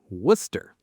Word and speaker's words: Worcester: Worcester.